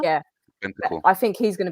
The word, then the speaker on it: Bentancur: Or I was going to say, how do you pronounce his name? Bentancur. Yeah. Bentancur.